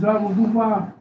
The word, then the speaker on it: Zerubbabel: Zerubbabel.